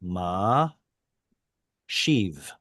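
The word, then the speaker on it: משיב: So the sheen becomes the beginning of the syllable, which means ma becomes its own syllable. Ma shiv. Ma shiv.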